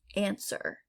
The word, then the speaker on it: answer: a silent g gnarl answer answer not ants were we don't say that the w is silent sword once again that